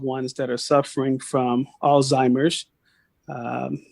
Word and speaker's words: Alzheimer's: that are suffering from Alzheimer's um it's with a z sometimes we we pronounce it alltimers and if you grew